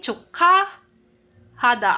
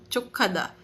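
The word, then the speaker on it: 축하하다: So from chok imbes na chuk hahada magiging chuka hada. Ay daapat to guys. Palitan ko saan na yun. Yan chukaada. Hindi chukahada chukada hindi po hahada po ito ha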